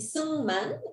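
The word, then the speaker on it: Syngman: y sigman este bueno se pronuncia y schümann en coreano pero se escribe sigman entonces ustedes lo pueden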